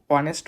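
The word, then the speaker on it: honest: এই জায়গাতে হনেস্ট কে অনেস্ট উচ্চারণ করতে হবে।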